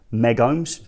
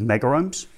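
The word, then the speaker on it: megohm: Sometimes people like to pronounce that as meg ohms. Generally, we've been going with mega ohms.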